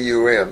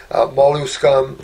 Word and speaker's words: Molluscum: It's Molluscum. It's like scum on the end. Molluscum, which is kind of a laughable word because it talks about a mild viral infection on the skin.